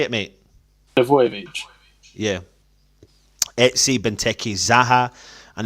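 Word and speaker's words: Milivojević: In defence, Townsend, MacArthur, Milovic, I can't pronounce his name, Milovolicic. Say it, mate. Milovojevic.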